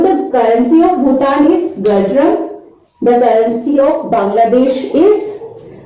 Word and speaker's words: Ngultrum: The currency of Bhutan is Gultram. Actually, the spelling of Gultram is Ngultrum. Here this N is silent. So the currency of Bhutan is Gultram.